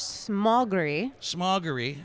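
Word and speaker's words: Smogóry: What do we decide the proper pronunciation was? So the Polish Smogry Forest.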